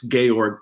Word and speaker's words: Georg: Theodor oorno George lucax I call him George it's gorg probably is the best